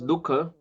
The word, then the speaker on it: dukha: And du and kha, that is dukha, it is also made with two aksharas.